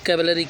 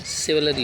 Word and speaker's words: chivalry: बहुत लोग इसको कैवलरी पढ़ते हैं, जबकि ये क्या होता है? सिवलरी होता है, C आधा ल र, सिवलरी, CHIVALRY, सिवलरी पढ़ेंगे।